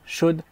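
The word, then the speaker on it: should: Chud aussi c'est pareil on prononce pas le l wood shud ça se prononce comme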